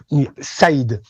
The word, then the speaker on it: Said: And if you want to pronounce it like Arabic is Said, but we say just said. You can say just said like past, like saying past simple.